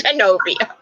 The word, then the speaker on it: Genovia: It's Genovia.